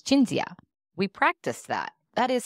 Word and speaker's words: Cinzia: you're important even names your name is spelled c-i-n-s-i-a and so I assumed it was Cynthia how do you pronounce your name it's jinzia we practice that that